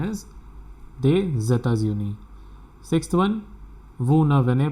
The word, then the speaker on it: des États-Unis: S will get connected with this E and the pronunciation is des États-Unis.